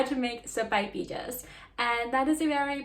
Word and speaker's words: sopaipillas: So we're going to make sopaipillas.